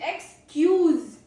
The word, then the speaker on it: excuse: Then we have pronunciation two which is excuse. Excuse ends in Zed.